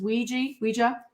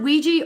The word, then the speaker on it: Ouija: It says Ouija. It says, wait, can you read that word? Can you see that? How to pronounce it? You could pronounce it Ouija or Ouija. It's okay.